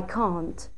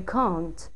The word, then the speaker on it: can: Can is pronounced in different ways, depending on where it is used. We distinguish between the strong form can and the unstressed weak form can. In short answers, it is pronounced can. Yes, we can. When followed by another verb, its weak form can is used. Can, I can type.